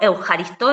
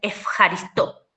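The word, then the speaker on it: ευχαριστώ: En griego moderno esa eu no se pronuncia eu, sino que se pronuncia f.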